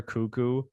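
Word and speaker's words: Koekkoek: Andrei, I think it might be Slater Cuckoo. How you pronounce that's that, you know what? When I hear it out loud, I'm like, yeah, it's Cuckoo, which is how I read it.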